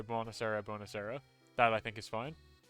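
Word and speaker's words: buonasera: too tom uh bonjourno is what we say bonus era uh it's like bone bonusera there you go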